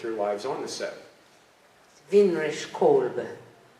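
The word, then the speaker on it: Winrich Kolbe: Weinrich Kolbe. That's how you say it. Weinrich Kolbe, German.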